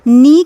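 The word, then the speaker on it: knee: तभी उसने पूछा कि ये नी की स्पेलिंग में के क्यों है, और अगर के है तो इसका साउंड क्यों नहीं आ रहा है।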